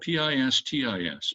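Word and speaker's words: πίστις: The word in Greek is spelled P-I-S-T-I-S, pistis.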